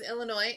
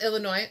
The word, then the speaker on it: Illinois: yes my name is illinois and i need an airline ticket to um well illinois no the s is silent looks funny looks like